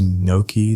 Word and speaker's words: gnocchi: Is gnocchi the silent G kind?